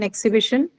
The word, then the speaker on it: exhibition: And how many syllables do you have in exhibition? Four syllable, ma'am.